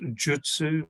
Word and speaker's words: Jyutsu: jitsu shinjin uh but here in the west it's Jin Shin Jitsu and it's actually pronounced Jutsu but it's leaving ajitsu